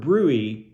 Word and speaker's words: bruit: audible brewy okay and that word brewy that is a uniquely medical word that we don't really use outside of I've never seen it used outside of medicine and it's spelled bruit b-r-u-i-t so if you